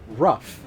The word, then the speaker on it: Rough World: that's supposed to say rough it's supposed to be rough world and also if you